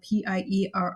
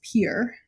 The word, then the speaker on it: Pierre: Second of all, the capital of South Dakota, it's spelled Pierre. It is pronounced Pier, like Pier. It's one syllable. Do not pronounce it 2 syllables.